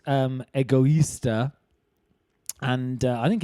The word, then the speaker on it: Egoista: on that website anyway uh it's called um egoista and i think it's great